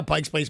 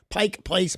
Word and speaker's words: Pike Place: love that either or you can't say Pike's you came out of preview by zooming right now Pikes Place Market Pike Place Market you're right man yeah